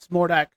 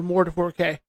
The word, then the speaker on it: Mordak: It's pronounced Mordak, but Mord 4K. No.